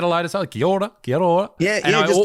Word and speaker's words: Kia ora: then that's your thing, Kia ora. Is that the right way to say that? Oh, yeah, kia ora. Yeah, that's pretty much the same, bro.